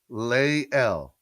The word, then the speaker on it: Lael: Lael. Lael. Is it Lie? Liel? Liel. Liel. Is it Lieel? Like the phonetic saying? You're going to help me. We're going to get this together. Lael. Lael.